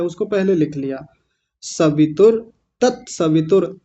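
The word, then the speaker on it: तत्सवितुर्: सवितुर तत सवितुर। तस्य वितुर नहीं बोलना। यह उच्चारण बिल्कुल गलत है। तस्य वितुर तस्य नहीं होता। गलत है। क्या है? तत सवितुर। और रुकना नहीं है।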